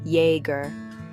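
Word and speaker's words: Iaeger: Iger, pronounced yer, was built on coal, and the railroad now struggling as both have faded.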